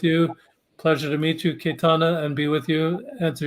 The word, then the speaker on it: Cayetana: Pleasure to meet you, Cayetana, and be with you, answer your questions today.